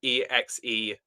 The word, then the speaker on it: Exegol: No, like possibly there's a way you pronounce that properly, but it's if it's spelled EXEGOL.